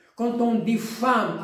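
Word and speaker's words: femme: g quand on dit femm avec e ça se prononce a quand on dit taxi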